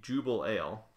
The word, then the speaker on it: Jubelale: what it was anyways I do now know that's how it's pronounced the Jubal ale um I didn't have